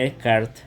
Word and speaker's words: Descartes: la sagrada escritura para René descart o Descartes como se escribe que vive entre el